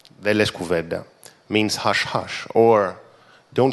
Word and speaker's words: Δε λες κουβέντα: And it rhymes with Documenta. Deles Κουβέντα means hush hush, or don't say a word, or you don't say a word.